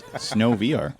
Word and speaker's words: SNOVR: That is SNOVR, which is happening in Barry's Bay. Not SNOVR? Or? No, it's not SNOVR. It's weird that you would say that. But no, it's SNOVR.